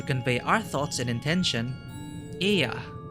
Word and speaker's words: Ea: When the vibration of vocal folds was still required to convey our thoughts and intention, Ea, I believe, was the pronunciation used when referring to our people.